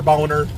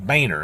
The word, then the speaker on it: Boehner: pronunciations of things and that includes the english pronunciation of mr boner's name not vayner it's boner in school they taught you about